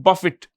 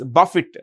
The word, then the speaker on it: Buffett: Gates started Microsoft in 1975 okay now Warren Buffett how do you pronounce the name b u FF T is Buffett b a f i t Buffett Warren Buffett